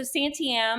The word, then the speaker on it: Santiam: folk band's name um so Santiam like the Santiam River you know um so